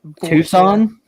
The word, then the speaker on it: Tucson: technically they can still leave and have the two skin road runners and as a hockey team did you say two skin yeah because I don't give a how to pronounce that Tucson yeah I know it's not even it's not